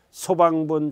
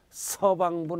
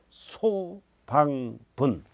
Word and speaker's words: 소방분: 발음 잘해야 돼요. 소방분, 지역자원시설세. 서방분 하면 안 돼요. 소방분.